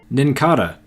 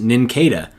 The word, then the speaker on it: Nincada: my mind sorry Mienfoo nincada where i come from the bugs just pokemon are likely based around are called cicadas so I just assumed this Pokemon was pronounced nincada but it's actually nincada Pancham once again fans